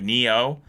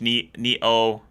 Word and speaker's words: Nioh: I'm also really looking forward to Neo.